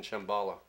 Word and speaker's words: Shambhala: I trembled before the Lord of this world, in Shambhala, rhymes with Kabbalah and Agatha, and the hollowness of the earth.